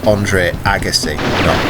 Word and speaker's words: Andre Agassi: the Andre Agassi as I've now confirmed it's pronounced is Andre Agassi Agassi and on the Mega Drive and I'm